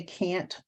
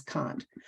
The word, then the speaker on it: Kant: Some people say Kant, other people say Kant. You know, it does not matter how you pronounce it, but it's most people will pronounce it as Kant.